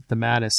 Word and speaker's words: DeMatteis: DeMatteis? DeMatteis, yeah.